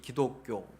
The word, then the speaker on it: 기독: 표기를 한 것입니다 그래서 중국어 발음으로 지 두라고 이렇게 이야기 하는데 우리 발음으로 그것이 기 독 이 된 것입니다 그래서 기독교라고 이렇게 부르는